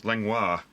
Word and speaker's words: Lenoir: Got Miss Lenoir. Which, yes, it does rhyme with Chris Benoit.